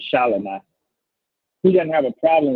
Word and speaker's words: Shelomi: That's how you pronounce her name, Shelomi.